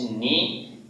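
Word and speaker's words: knee: এই জায়গাতে হচ্ছে আমাদের নি, এই জায়গাতে কে উচ্চারণ হয়নি।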